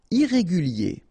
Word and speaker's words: irrégulier: Irrégulier. Okay, remember, I-E-R at the end of your word here, it will be ye, okay?